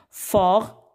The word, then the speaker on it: fort: Fort, nous avons forte, féminin, et fort, le T à la fin ne se prononce pas, muet.